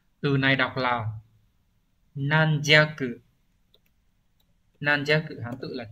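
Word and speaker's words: 軟弱: Từ này đọc là nan jaku.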